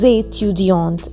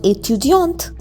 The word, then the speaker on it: étudiante: Je suis étudiante. A sound because we have accent aigu. And extra E, so it becomes étudiante.